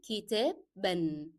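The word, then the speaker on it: كتابًا: And as we have learned that we pronounce the sound of the last letter of the word and then we add the sound of the double fatha. So it will be kitab ban, ba and then an.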